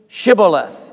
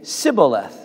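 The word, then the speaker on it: shibboleth: would say to him then say shiboleth. and he would say sybileth for he could not pronounce it right then they would take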